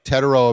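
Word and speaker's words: Tetairoa: I never pronounce his name right. Something McMillan. Teteroa? Teteroa McMillan.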